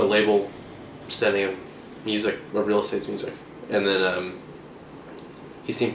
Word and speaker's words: Real Estate: Well, first I wanted the band to be Real Estate, with the accent on the estate.